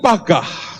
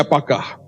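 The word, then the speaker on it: פגע: atau syafaat itu dari kata Ibrani pagah tulisannya p a g bacanya pagah dan kata pagah sebetul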